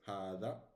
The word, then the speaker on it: هذا: Hada, okay. It's right. It's This is how it is written, okay, but it's pronounced hada.